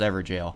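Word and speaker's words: Evergaol: found the forlorn hound ever jail yes it is pronounced every jail naturally i wanted to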